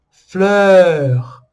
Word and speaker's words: fleur: Esses todos vão ter o mesmo som, que é praticamente o mesmo som da letra E em francês.